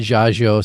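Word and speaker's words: Dziadzio: It's spelled D-Z-I-A-D-Z-I-O, and he said Jaggio, so that's what I'm going with.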